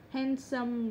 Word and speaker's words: handsome: D không được phát âm trong những từ thông thường sau, như từ handkerchief. Từ này thì quá quen rồi, không cần phải nói nhiều nữa. Handsome rồi. Sandwich. Chứ ai đọc là sandwich đúng không?